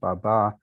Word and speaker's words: baba: So it's in Turkish, it's accented on the second syllable, baba, and so also in Albanian, Romanian, and Greek.